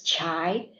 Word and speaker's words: Chai: name is pronounced as chai not Kai the chai is the same as the Starbucks chai p and regarding my